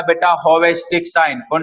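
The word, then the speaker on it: Chvostek: सी इसके अंदर साइलेंट होता है। जैसे निमोनिया के अंदर पी साइलेंट होता है। ऐसे ही बोलते हैं इसको बोलने वाले चोबेस्टिक भी बोल देते हैं।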